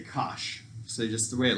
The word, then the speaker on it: cosh: way people say it instead of saying cosine hyperbolic or whatever they just say kosh so just the way it looks right kosh now this one how